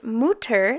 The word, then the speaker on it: Mutter: And the German word for mother, which is Mutter, spelled M-U-T-T-E-R, which of course in English we would pronounce mutter or mutter, it means to whisper.